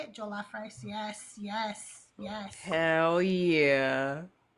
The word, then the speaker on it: jollof: Jollof rice.